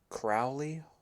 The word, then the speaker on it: Crowley: have lived a demigod by the name of Crowley Holden and I can spell that if you want yes please uh c r o c r o wle y Crowley W okay Crowley yeah and then Holden